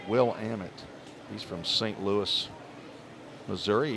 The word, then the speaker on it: Willamette: to say ferbet from Willamette but understand it's pronounced will Amit he's from St Louis Missouri he's one for